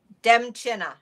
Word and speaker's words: Demchina: Demchina. It's not as scary as it looks. It's Polish Ukrainian.